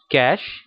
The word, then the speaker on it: cache: सी एच ई है काफी सारे लोग इसे कैश कहते हैं कैश सही वर्ड नहीं है जो इसका इसकी जो ट्रू प्रोनंसिएशन है व कैश है तो यहां पर